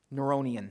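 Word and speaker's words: Neronian: increase this is the the neuronic neuronian that's how you say it neuronian persecution uh that's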